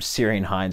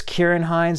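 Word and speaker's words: Ciarán Hinds: butchered kieran hines name i called him syrian hinds or something i knew it was kieran hines and then i was like syrian hinds i don't know i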